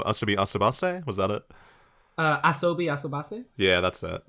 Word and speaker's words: Asobi Asobase: as like, I don't know, how do you pronounce it again? I haven't. That really good show. Asobi Asobase, was that it? Asobi Asobase?